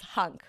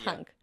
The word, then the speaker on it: HVNC: it right like it you'd think that it would spell something else but it actually is hunk it's pronounced hunk and it's letter which